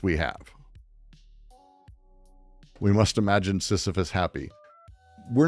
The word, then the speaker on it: Sisyphus: Actually, we must imagine Sisyphus is exactly the right way to say it.